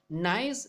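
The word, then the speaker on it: gneiss: s not nice organism it is pronounced as nice is the altered form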